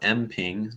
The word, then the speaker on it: mPING: you can do so it's called mping just kind of how it's spelled out letter M and then ping you can send in